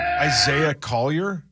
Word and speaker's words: Isaiah Collier: How do you pronounce his name? Isaiah Collier.